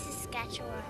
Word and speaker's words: Saskatchewan: It's Saskatchewan.